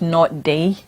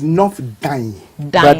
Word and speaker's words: North Dayi: sir honorable honorable Josh L Member of Parliament not day not day actually it's nor d d I know that people have challenges with the